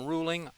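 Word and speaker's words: Ruhling: I think my email is on the website somewhere, but it's uh my last name ruling r uh h l i n g. The one h uh is silent.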